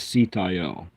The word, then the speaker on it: Sitael: The angel name is Sitayel, but Abraham Abulafia using base vowels, the divine name is Sayote.